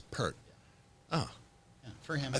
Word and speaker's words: Peart: Is it Peart or Pert? Pert. It's Pert. Oh, Yeah, for him. I thought you know. Yeah. I've seen people online reprimanded for Pert.